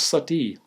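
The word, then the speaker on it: suttee: And seventh, if every society forbids murder, as Hitchens claims, why did Hindus for so many centuries practice sati? Sati is spelled S as in Sam, U-T-T-E-E, and you can look it up in Wikipedia or in any good encyclopedia.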